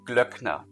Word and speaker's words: Glöckner: You know my last name, Glöckner. It has that uh umlaut.